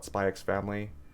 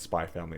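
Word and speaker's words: Spy x Family: the Hunter x Hunter do you call it spyx family and Hunter x Hunter what do you call it spy family and Hunter Hunter just curious it's oh hey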